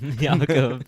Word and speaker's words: Jakob: Jakob. Sounds like we're hawking up some loogies. Jakob. The Hebrew. I believe that is the appropriate Hebrew pronunciation.